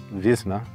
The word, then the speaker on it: Wizna: or Z na a vzna the W is pronounced like a uh V so you can look